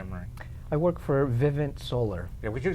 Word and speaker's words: Vivint: I work for a Vivint solar would you spell that for us because it's very hard with the way you come out yeah it doesn't sound the way it's spelled it's VI VI NT listen I'm sure that'll